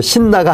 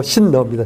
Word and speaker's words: 신너: 그런데 발음이 이제 신나가 아니고 신너입니다. 신너. 그렇죠.